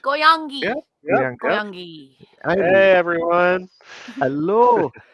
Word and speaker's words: Goyangi: Is that how you pronounce it? Yeah, all good. Goyangi.